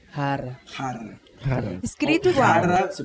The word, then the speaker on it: jarra: A palavra é exatamente igual. Só que você pronuncia diferente. Diferente. Então a palavra a gente falou jarra. Jarra. Você fala rara.